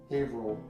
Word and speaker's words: Haverhill: It's pronounced Haverhill.